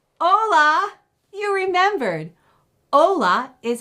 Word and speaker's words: hola: Hola.